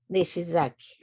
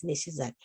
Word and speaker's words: Nishizaki: So he decided to change it to easy way to say it because in Spanish we don't have SH. Okay, Nishizaki.